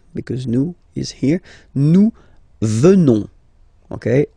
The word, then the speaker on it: venons: Nous venons. Okay? O-N-S, classical ending for nous. Okay? Final S not pronounced. So O-N, on, venons, venons. Nous venons. Nous venons.